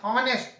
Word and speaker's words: honest: an honest man, not honest, honest man, a is there.